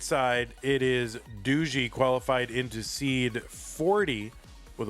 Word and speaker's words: DuzyK: And anytime I try to pronounce, you know, names from Poland, I'll be like, "Douche." And they'll be like, "No, it's doo."